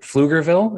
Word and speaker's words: Pflugerville: I was not familiar with them, was community impact in, I think, is it Pflugerville? Is that how you pronounce it? Texas, Pflugerville, yes.